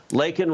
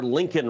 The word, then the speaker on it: Laken: Now, he got Laken Riley's name wrong. He called her Lincoln Riley, who's, of course, a